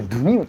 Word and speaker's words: DENIME: ちなみにデニームと書いてドゥニームと発音しますよね。